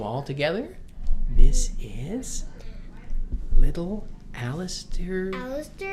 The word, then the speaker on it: Alister: before we got married spell differently but pronounced the same Alistair means defender or helper